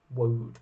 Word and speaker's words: woad: color dye is produced from the woad plant wood plant and yes that's not a typo we don't mean the wood plant the wood plant providing that is how you pronounce it of course yeah once again